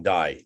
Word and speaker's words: Dye: And we shall do that. We shall do this. Guillaume D, or you can pronounce Dye if you want, but French it's D-Y-E.